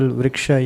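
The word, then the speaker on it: वृक्ष: the, like for example, Vriksha, you said Vri and Ksha? Yes. So it's just based on the Sanskrit letters, right? Not what? Like not because it's written in English, right? So when you identify a syllable, what's the rule? No, it's the sound. Is the sound. Vriksha. Whether you write it in English letters or Sanskrit letters doesn't make a difference.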